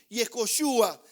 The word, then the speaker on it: Yehoshua: en su forma amplia, y se escribe, se pronuncia más o menos así: Yehoshua, que la traducción es Jehová salva.